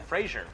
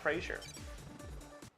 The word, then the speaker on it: Fraser: say- It's not a soft Z! Yeah, it's not Fraser. Should be Fraser.